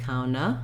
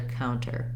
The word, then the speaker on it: counter: need that er position watch out you don't want it to sound like kauna but rather counter or counter and then in intuitive